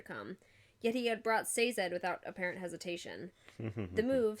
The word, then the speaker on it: Sazed: Yeah, this is another, like, Vin and Sazed bit, where, And it is Sazed, I wrote it down. And it is Sazed. Oh, the pronunciation?